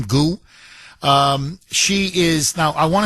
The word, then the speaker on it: Gu: Okay, I think this is how you pronounce her last name, Gu.